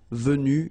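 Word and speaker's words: vues: and same thing here Vue you don't pronounce a s so phonetically you only have one way to pronounce it but remember if you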